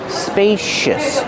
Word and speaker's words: spacious: Pronunciation, spacious. Use a long A like pay and say. Spacious. The C makes a sh sound like shoes and show. Spacious. Use a relaxed sound at the end.